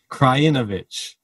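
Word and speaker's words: Krajinović: six one from and i apologize from the last episode it is kryanovich said better pronunciation this time and he knocked out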